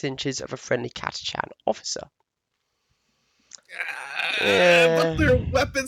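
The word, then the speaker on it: Catachan: decade ago, I heard somebody say, "Oh, it's pronounced Katakan." Actually, um, I, Really? they weren't in any position of authority, so don't believe it. But ever since then, I've naturally said Katakan, but it is Katachan.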